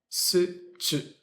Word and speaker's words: situation: Situation. And when you have a TUA in the middle of a word, you say ch instead of t with the CH sound.